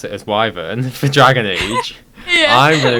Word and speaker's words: wyvern: Based on the fact that BioWare pronounce it as Wyvern for Dragon Age, I'm going to go on that, because I think...